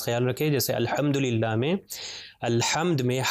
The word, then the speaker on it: الحمد: رکھیں۔ جیسے الحمدللہ میں الحمد میں ہا کے اوپر صرف زبر ہے، اس کو کھینچنا نہیں ہے، صرف ملٹیپلائی بائی 1